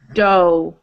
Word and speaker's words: dough: It's not ooh, not ooh. Dough. O-W. Nope. Just O, long O. Do, do.